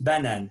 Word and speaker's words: banane: Une banane. Faites attention à la prononciation.